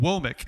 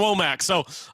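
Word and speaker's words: Wommack: But uh your thoughts on Kane Womick is how you pronounce that. Wik. Okay. I definitely would have gone WAC.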